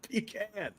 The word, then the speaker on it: pecan: The correct pronunciation of pecan. It's pecan.